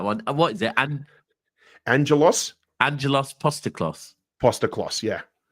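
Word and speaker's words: Postecoglou: Angelos Postaklos. Postaklos, yeah. It's the first time I've ever had like an ethnic name where actually adding syllables makes it easier to pronounce.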